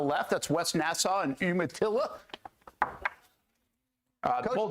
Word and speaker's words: Umatilla: That's West Nassau and Umatilla. Coach, do you know how to pronounce, is it Umatilla? Umatilla. Umatilla? Like Umatilla. Umatilla. All right, good. Just the way it looks.